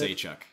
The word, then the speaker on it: Oleksiejczuk: How do you pronounce it? Oleksiejczuk.